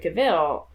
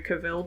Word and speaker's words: Cavill: somebody call him Henry Cavill before. I don't even know. Is that wrong? Is it Cavill? Cavill, yeah. Is it Cavill? I like Cavill. It rhymes with Cruella de Vil.